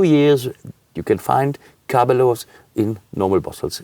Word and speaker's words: Caberlot: The Italians Caberlot? call it Caberlot, and the Anglicisms world call it more on Caberlot or things like this.